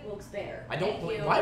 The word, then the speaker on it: Wilkes-Barre: He's saying it's pronounced Wilkes-Barre! I told you! Wilkes-Barre, not Wilkes-Barre, Wilkes-Barre.